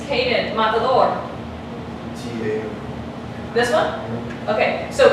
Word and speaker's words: matador: If I were to pronounce that word with that emphasis here, it would sound like this, matador. But it's not like that. It's pronounced matador.